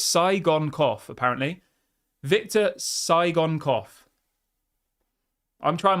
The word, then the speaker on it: Tsygankov: It's Tsygankov, apparently.